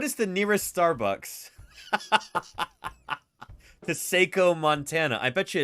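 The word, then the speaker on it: Saco: a video of uh Seiko Montana yeah here we go Seiko Montana uh this is what this part of the world looks like Seiko is actually how you pronounce it thank you very much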